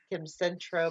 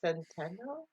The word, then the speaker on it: Centeno: I always want to say Kim Centro, but it's Centeno.